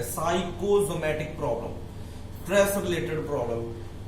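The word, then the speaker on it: psychosomatic: पी यहां पे silent है, साइकोसोमैटिक problem, stress related problem.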